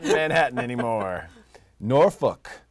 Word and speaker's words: Norfolk: not Jan Hatton anymore Norfolk that's how it's said by the way Norfolk not nor Foulke if you say that to someone region we know you're not from there yeah so that one